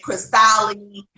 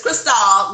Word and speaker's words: Chrystale: oh yeah they say chris tolly chris tolly you know they just jack it up a little bit but it's Cristal like the champagne that's how it's pronounced yes and so this